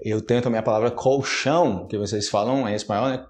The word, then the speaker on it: colchão: começou do nada eu tento a minha palavra colchão que vocês falam esse maior colecione ele corre